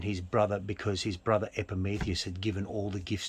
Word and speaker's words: Epimetheus: I'll help you with the pronunciation. Thank you. Because Please it comes from do. Greek mythology. Yeah. Epimetheus was Prometheus's brother.